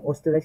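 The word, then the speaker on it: Österreich: ওকে রুস্টারাইসাইজ রুস্টারাইস Austria যেটা ওস্টারাইস প্রথম পড়েন ওস্টারাইস এভাবে পড়েন আস্তে আস্তে ডয়ালিস্ট করবেন এয়ার বন্ট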